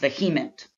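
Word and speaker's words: VHEMT: voluntary human extinction movement the acronym pronounced vehement and we'll also look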